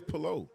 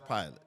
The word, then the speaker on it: Pillot: all these years like I thought it was pillow like because everybody pronounce it different everybody but it is pilot no it's a lot